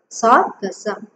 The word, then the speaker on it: Sargassum: Okay, S-A-R, Sar, G-A-S, Gus, S-U-M, Sum, Sargassum.